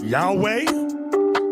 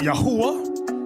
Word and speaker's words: Yahweh: not known to them now depending on your form of Hebrew you have some people pronounce it Yahweh another group pronounce it Yahweh we were taught yahwah do use the the ancient Hebrew um so have you